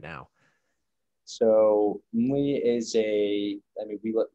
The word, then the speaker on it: Mmmly: But Nick Naclerio, the founder of Mli, did I pronounce Mli right?